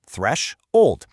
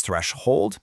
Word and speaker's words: threshold: It breaks down into just two simple syllables, thresh, old. Now, phonetically, you might actually hear it pronounced two different ways. Sometimes it's threshold, and other times it's threshold. Honestly, both are perfectly fine to use.